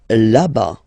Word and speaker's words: là-bas: Là-bas, là-bas. Remember, final S not pronounced.